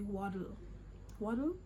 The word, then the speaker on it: wattle: I remember a plant, I think it's called wattle. Yes, in their accent it would be waddle. Yes, because I remember my friend told me that it rhymes with bottles or waddle, and I should look at it, you know.